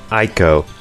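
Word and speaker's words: Eiko: so her name is Aiko you could say Aiko but I prefer to say Aiko I mean this is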